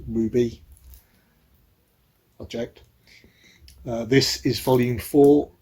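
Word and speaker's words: RWBY: about this series are wby it is pronounced ruby object this is volume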